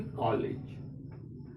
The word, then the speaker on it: कॉलेज: ना हम कॉलेज बोलेंगे, ना हम कॉलेज बोलेंगे, इसका बोलेंगे कॉलेज। अर्थात न आ है न औ है, इसका उच्चारण दोनों के बीच में होता है।